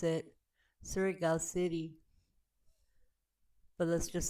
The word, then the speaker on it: Surigao City: And this is we pronounce it Surigao City.